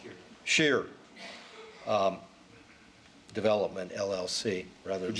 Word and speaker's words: Schreier: Michael Cunningham, 1347 44th Street, Des Moines, counsel for, and it's actually Schreier, if I pronounce it, Scheer Development, LLC, rather than Could you spell that for me?